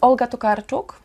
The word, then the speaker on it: Olga Tokarczuk: Her name is Olga Tokarczuk, and that's the book Bieguni.